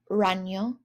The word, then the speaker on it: ragno: Last page, spider, ragno, so GN sound like an NY.